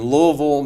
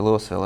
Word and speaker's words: Louisville: But want to mention, though, that you grew up in Louisville, Mississippi. Louisville, Mississippi. Louisville. They still Louisville in Kentucky. Yeah. We use the English pronunciation.